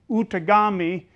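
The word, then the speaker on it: Outagamie: there's a county in um uh Wisconsin called out ofi County anybody heard of that one uh so in that's an ojba word that's not a French word uh and that is originally is pronounced utami and some people translate it as people who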